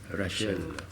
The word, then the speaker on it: Rachelle: Is it the French pronunciation? Rachelle. It is.